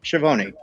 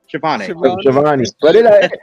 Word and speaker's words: Schiavone: So after the commercial break, we have Schiavone backstage with I keep saying his name wrong. Schiavone. Shivani.